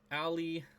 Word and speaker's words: Alley: It's pronounced Alley, like Alley Cat.